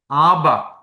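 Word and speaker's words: אב: എഴുതുന്നത് ഇനി എങ്ങനെ നമുക്ക് ആബ ആബ പിതാവേ ആബ് ഫാദർ ആബ എന്ന് ആബ് എന്നാണ് ഹബ്രായി ഭാഷയിലെ പിതാവ് ഫാദർ എന്ന് പറയുന്നത് ആബ് അല്ലെങ്കിൽ ആ കുത്തില്ലാത്തതുകൊണ്ട് ആ എന്ന് ഉച്ചരിക്കുക അത്എങ്ങനെ എഴുതും എന്നുള്ളതാണ് ആ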